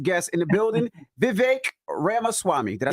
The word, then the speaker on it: Ramaswamy: Yeah, it's like Ramaswamy, like CD-ROM, Ramaswamy. but yeah. What I said, Ramaswamy. Yeah, you got it. Ramaswamy.